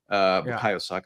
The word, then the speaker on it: Bukayo Saka: Bukayo Saka, excuse me. I've been pronouncing his name wrong after that boredom.